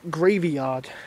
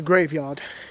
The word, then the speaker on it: graveyard: out of the graveyard I say it like gravy yard as if it's a yard of gravy which would be delightful no it's a graveyard graveyard I'm not even going